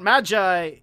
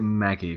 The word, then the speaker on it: Magi: It's not Magi, you Evangelion dubber. It's, I pronounce it Magi. I'm pretty sure it's Magi. I don't know. You pronounced it Maggie for a while.